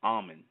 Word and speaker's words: Amen: It is a reason why that name, Amen, A-M-E-N, sometimes spelled A-M-E-N, we pronounce it A-H-M-E-N.